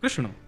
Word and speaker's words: कृष्ण: बंधुओं कई लोग इस नाम को अशुद्ध बोलते हैं, कई लोग कृष्ण बोलते हैं, कई लोग कृष्ण बोलते हैं, कोई कृष्णा बोलता है। भगवान का नाम शुद्ध उच्चारण करो, नाम क्या है? कृष्ण, भगवान, जय श्री कृष्ण।